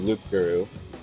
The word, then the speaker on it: loup-garou: The name is actually Werewolf in French, which is loup-garou, but pronounced Frenchly.